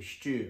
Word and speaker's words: Steaw: Okay, DJ Steaw, S-T-E-A-W, Stew. I don't know. To me, Stew is S-T-U or S-T-E-W. Stew. DJ Stew.